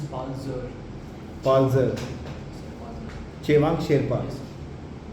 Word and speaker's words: Palzer: So it is pronounced as Palzer.